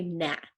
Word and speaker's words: gnat: see that little buzzing gnat now what's a gnat see the G is silent so we don't say good net do we just say gnat right right here gnat